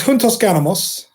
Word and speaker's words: Puntos Ganamos: Give us the proper pronunciation first. It's Puntos Ganamos.